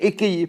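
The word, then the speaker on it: אהיה: Mais par contre, le Shem Ekeye, on le prononce tel qu'il s'écrit. Il s'écrit Ekeye, il est ponctué Ekeye, on va le prononcer Ekeye.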